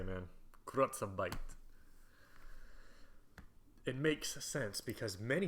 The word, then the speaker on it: Kurzarbeit: Hassel stresses that Kurzarbeit is not necessarily more expensive than the US-style system of mass layoffs.